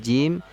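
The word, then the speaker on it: ج: situ keluarnya ada huruf Jim syin ya Nah ini beda juga nanti ya cara pelafalan masing-masing hurufnya untuk huruf Jim syin ini Tengah lidah ya lekat ya naik melekat ke langit-langit sedangkan huruf ya ini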